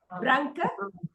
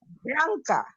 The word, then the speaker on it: branca: Branca Ah, has 2 syllables. Branca. okay. Branca. Branca. Good. Very nice. Very nice. That's perfect. A camisa. Please say camisa. É branca.